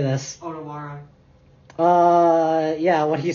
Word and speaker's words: Otawara: Otawara.